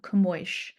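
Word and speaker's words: Camões: there are some differences so we have the nasalization with the O and you know the last s is pronounced as a sha camo so since it's publishing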